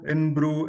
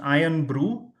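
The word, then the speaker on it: Irn-Bru: Iron Brew in Brew is the right answer. Wizards plus 20 to you. So it's pronounced Iron Brew, but IRN Brew in Brew also works.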